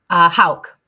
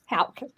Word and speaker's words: Houk: Houk. Houk.